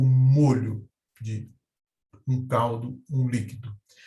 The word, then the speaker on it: molho: molhar, eu tenho o molho de um caldo, um líquido. Já a pronúncia molho possui uma origem diferente. Molho vem do latim manipulus, que significa um conjunto que pode ser agarrado com a mão.